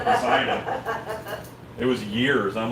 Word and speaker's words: Poseidon: I said Pisiodon until I was corrected from Poseidon.